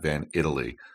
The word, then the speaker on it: Van Itallie: uh Matt van Italy to correct the AI co-hosts pronunciation of the name I didn't refer to that earlier but it is Matt van Italy he is the co-founder